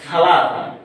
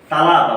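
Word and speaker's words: ثلاثة: তিন কিন্তু লোকমুখে সৌদি আরবের লোকমুখে যেটা উচ্চারণ করে এই থাটাকে তা উচ্চারণ করে অর্থাৎ তালাতা বলে তালা এটা হচ্ছে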